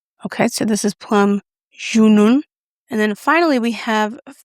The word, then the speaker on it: Junon: And I did look that up on Google to see if I'm pronouncing it right cuz I don't want to be an American sitting there saying, "Hey, hon, can you pass me the plum Junon?" It's Junon.